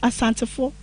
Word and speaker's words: Asantefo: The Ashanti ethnic group is pronounced Asantefo in Ashanti language.